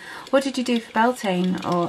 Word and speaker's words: Beltane: What did you do for Beltane? Or I know not everyone pronounces it Beltane, but it's just how I've always pronounced it.